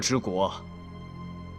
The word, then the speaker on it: 柘枝国: 柘枝国 The pronunciation is Zhe Zhi 此国是一个西域小国 This is a